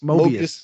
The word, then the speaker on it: Mobius: Mobius M.